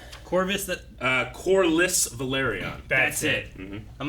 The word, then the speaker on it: Corlys: I believe Coitus is the exact way you say it. Is that how you say it? It's something like that. Corvus. Corvus? Corlys Velaryon.